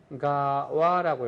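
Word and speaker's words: 長谷川: 이것을 하세가와라고 읽어요.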